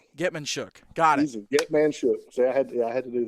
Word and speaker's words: Getman-Shook: Tucker Wadsworth, who's going to anchor our line, and 2 quarterbacks, Nikita Getman-Shook and Knox Cooper. So a lot of I'm, leadership. I'm glad you pronounced that last name because I've seen that last name.